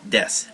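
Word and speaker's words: です: add desu or desta and again it's pronounced desu not desu it looks like desu but say this you can do this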